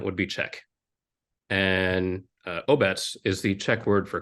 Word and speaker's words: Obec: we knew that 99% of the people would pronounce it OBC and the other 1% would be Czech and uh oets is the check word for Community or Village